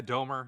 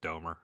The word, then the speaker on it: Domer: Is it Domah? Am I pronouncing that correctly? Yeah, Domer. Yeah. It's like a Boston accent of Domer.